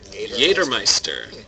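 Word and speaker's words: Jägermeister: that in German it's jmeister I did not it is it's Jagermeister it's with a d Yer Meister jmeister that's what hunt Master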